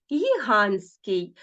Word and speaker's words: гігантський: письмі позначені відповідними літерами Ну наприклад гігантський зверніть увагу т і с Ну т і с тобто три букви н т і с а вимовляємо гігантський тобто випадає ось цей звук це явище називається спрощення про нього ми будемо говорити